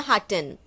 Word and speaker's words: hatten: If you're not able to read it in German, say in your mind ha. Ha. And then say hatten. Ha. Hatten. Welchen Tag hatten wir gestern?